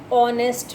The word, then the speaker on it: honest: An honest man. As I had told you earlier in the rule also, honest begins with H, but the H is silent.